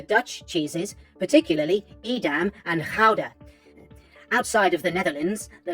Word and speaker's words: Gouda: Well, I'm quite partial to the Dutch cheeses, particularly Edam and Gouda. Outside of the Netherlands, the latter is often pronounced Gouda or Gouda, because why say things properly?